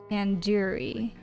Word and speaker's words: tandoori: surely at least recognized tandoori chicken you're saying it wrong wait really Tandoori tanduri tandur tanduri sorry the do isn't like isn't like a door it's like DOD head do okay are you